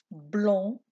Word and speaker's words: blanc: Blanc, blanche. Dans le mot blanc, on ne prononce pas le C.